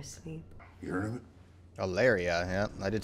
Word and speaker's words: Aleria: Aleria, yeah, I did say it right.